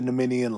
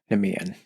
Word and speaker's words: Nemean: sent to slay the Nemenian lion. The tricky thing about this Nemenian lion is it's about 2 to 3 times his size, Heracles' size. I hate to be a pronunciation queen. Nemean.